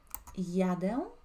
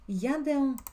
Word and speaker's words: jadę: empezando a aprender idioma polaco, vamos a hacer pronunciación paso a paso. Jadę. Jedziesz. Repite conmigo, siempre está bueno, ¿no es cierto?, pronunciar la pronunciación. Jadę, jedziesz.